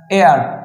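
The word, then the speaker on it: heir: ওকে এছাড়াও এ ধরনের বিভিন্ন আছে যেমন হচ্ছে এয়ার এইচ ই আই আর হেয়ার যেমন আমরা বলতে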